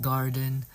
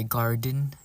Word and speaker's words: Gardyn: from my indoor hydroponic garden. Brought to you by Gardine. I call it Gardine, but Sarah says it's just pronounced as garden with a Y instead of a E.